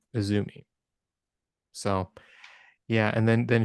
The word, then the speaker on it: AZM: that must be pronounced azm but it's just a stylized way of writing Azumi so yeah and then